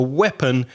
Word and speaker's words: weapon: We could kind of group all of these words together because a weapon is something you use to fight with. And the pronunciation is weapon, although the spelling is WEAPON, weapons, armas.